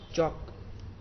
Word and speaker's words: chalk: चॉक, चॉक, CHALK, एल नहीं, यहाँ पे जो एल है वो साइलेंट है, तो एल नहीं बोलना है।